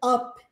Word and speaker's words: up: leria up Ok up só que em inglês a gente pronuncia up up e muitas vezes nas nessa pergunta a gente engol o p What's Up Olha só